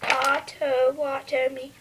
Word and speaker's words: Potawatomi: smoking back out and sacred pipes Potawatomi is pronounced ottawatomy it means fire keepers here's transportation in our